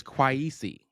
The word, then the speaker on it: Kwaisi: His name is Kwaisi, which is very close to Quasi.